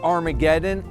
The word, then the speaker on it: Armageddon: The word Armageddon is a bad Greek pronunciation of the Hebrew word Har Maggido, Mount Megiddo.